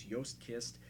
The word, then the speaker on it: Joost Kist: I know I've been pronouncing his name wrong, but it's Joost Kist out on the left.